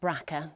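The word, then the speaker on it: BRCA: The gene is known as JB RCA, pronounced Bracka.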